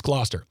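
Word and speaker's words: Gloucester: But hey, Dave Purchase of England, Glossier. Gloster. I I usually know how to say these names. Glouester. Glouester. It's Glouester.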